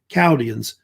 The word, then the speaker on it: Chaldeans: The H is usually pronounced, is silent, by the way, Chaldeans.